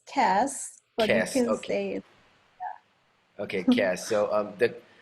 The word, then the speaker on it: CaaS: of how do you how do you pronounce it is it SAS or Cass CAS we call it it's Cass ok ok yeah so